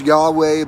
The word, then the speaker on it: Yahweh: for God that's pronounced Yahweh but it's actually the uh it's actually meant to be an unpronounceable name because it's supposed to be something that you breathe it's the the YW